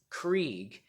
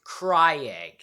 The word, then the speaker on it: Krieg: psycho's name, which is Krieg. And okay, oddly enough, the same thing that was with Tina's name pronunciation also applied to Krieg, because Richard and I both thought that his name was pronounced Cryeg.